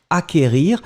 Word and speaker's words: acquérir: Acquérir, le CQ, en fait, vous ne prononcez pas vraiment vous n'allez pas allonger le que, vous l'avez juste prononcé acquérir.